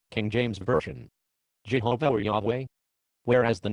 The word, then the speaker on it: Yahweh: So whether the pronunciation of the tetragrammaton becomes Yahweh or Jehovah depends on which vowels the reader supplies to the 4 consonants. Today many Hebrew scholars prefer Yahweh as the true pronunciation.